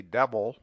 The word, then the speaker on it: devil: The rule is sometimes applied to devil and evil, but it is better to suppress the vowel and say devil, evil.